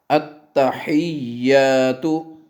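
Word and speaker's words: التحيات: کے سنائی جائے گی۔ التحیات، پھر سنیں، ہا کو واضح کریں اور یا سے ملائیں۔ التحیات للہ والصلوات والطیبات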